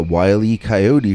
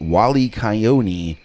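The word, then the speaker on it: Wile E. Coyote: sounded like he was telling us the wily coyote from the roadrunner cartoons was outside his window the night before he was pronouncing it wally kyoni so i was only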